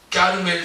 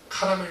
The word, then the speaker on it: 까르멜: 그래서 그가 까르멜 수도원에 들어가, 이 발음이 굉장히 어려워요. 까르멜 수도원. 잘못하면 카라멜 수도원이 됩니다. 카라멜 수도원이 아니라 까르멜 수도원에 그가 들어갑니다.